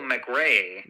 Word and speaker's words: McRae: Michael McRae McRae, yeah.